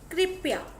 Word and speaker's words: कृपया: phone number 19 कृपया इस का सही उच्चारण है कृपया क्या होता है कृपया